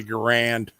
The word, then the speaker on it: Garand: I'm sorry. You gentlemen are pronouncing that incorrectly. Actually, he's pronouncing it correctly. We say Garand here in the south.